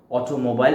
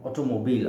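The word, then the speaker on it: automobile: তাহলে double A দিয়ে অটোমোবিল, আচ্ছা এটাকে প্রোনাউন্সিয়েশন হবে অটোমোবিল অ্যাসোসিয়েশন।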